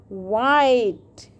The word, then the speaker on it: white: And in the end, there is a E, but we will not pronounce it because it is also silent.